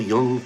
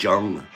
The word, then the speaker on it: Jung: school of thought, Carl Jung comes along. I remember when I was younger, I didn't know how to pronounce it. I always said Jung. His name was Jung.